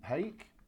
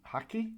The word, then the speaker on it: hake: So I'm going to use the medium hake or medium hacky, depending on how you want to pronounce it, and I'm going to put a nice thin film of water right the way across.